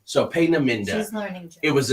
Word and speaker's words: Peenemünde: phonetic spelling, but it was a place called Peenemünde. It's Peenemud, but she's big on German pronunciations. So Peenemünde.